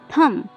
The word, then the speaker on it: thumb: THUMB, थम। यहाँ भी एम के बाद बी आ रहा है, इसलिए यहाँ पे बी साइलेंट है।